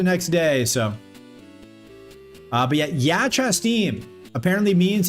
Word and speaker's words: ja častim: It's ja častim, okay?